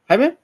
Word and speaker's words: Jaime: If I'm not mistaken, Jaime. Yes, you're right. That's the pronunciation of my name.